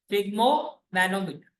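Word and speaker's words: sphygmomanometer: इसमें है साइलेंट, क्या कहते हैं इसको? फिग्मोमैनोमीटर।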